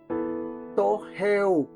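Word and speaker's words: πτωχεύω: hizo pobre viene de El griego to jeu se escribe p t o J E u o significa ser mendigo quedar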